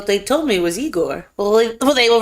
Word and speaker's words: Igor: Igor, Cloris Leachman, Terry Garr, Madeline Kahn.